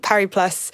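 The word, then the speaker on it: Paris+: fair so I think par plus it is uh important that we pronounce the S par and I was amused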